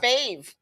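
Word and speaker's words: Favre: is silent then it's fave fa fa oh the r is a h the it's f a v r e it's missing a vowel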